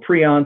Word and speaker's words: prion: will this thing is a prion or pron some people pronounce and it is very